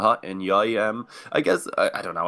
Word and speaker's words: Enyoy: It kind of is just a Swedish thing. The way they pronounce their J sounds a lot like a Y, so just kind of Pronex rolling with the meme.